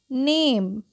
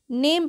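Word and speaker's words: name: लेते हैं क्या पढ़ेंगे इसको नेम क्या पढ़ेंगे नेम पढ़ेंगे ना में नहीं पढ़ेंगे ओके ई क्या होगा साइलेंट होगा और ए का उच्चारण ऐ से होगा ठीक है क्या पढ़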